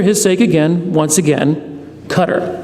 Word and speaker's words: Qatar: So just for his sake again, once again, Qatar.